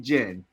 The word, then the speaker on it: Jen: Her name is Gym Freak Jen, as in Genesis.